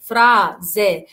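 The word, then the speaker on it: frase: في عندنا لا لتر اس لو جت ما بين دو فوكالي او ما بين حرفين متحركين بتنطق ز. كازا كازا كازا، يبقى هنا اس اتنطقت ز ز كازا. وفرازة فرازة كازا يعني بيت، وفرازة يعني جملة.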